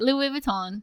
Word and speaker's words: Louis Vuitton: How do you pronounce it? Louis Vuitton.